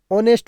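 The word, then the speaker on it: honest: इज एन ऑनेस्ट women अब यहां पे एच है वो साइलेंट है इस कारण ऊपर वाला में जो एच है वो एच लगा है एच के साथ ए लगाया वो क्या है इनकरेक्ट है और नीचे वाला क्या है है करेक्ट है क्योंकि ऑनेस्ट के साथ क्या आएगा N similarly when the first letter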